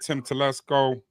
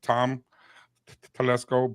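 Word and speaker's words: Tom Telesco: they fired Mr Staley he's gone they fired Tim Tesco and coin think I said his wrong yeah I said his name wrong Tom Tesco both of them are gone okay um and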